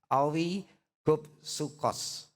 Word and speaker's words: oligopsukos: Oligopsukos. Ya, oligopsukos. Owi, mestinya bacanya gitu saudara. Owi gopsukos. Oi, L-I-nya nggak jelas dibacanya. Oi gop sukos, ya.